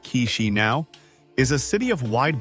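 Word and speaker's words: Chișinău: Chishino. And you say it like K-shi now is a city of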